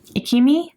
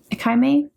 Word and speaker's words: Ichimei: She ends up meeting Ikaime? Ichimei. That's how you say it.